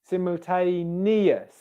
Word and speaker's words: simultaneously: Now I'll put a bit more stress on that. Simultay, simultay, simultay, simultay. Okay? And then we go to neus, ear diphthong, like this thing here, my ear. Simultaneous, simultaneous, simultaneous, simultaneous. And then we've got lee on the end there. Simultaneously, simultaneously.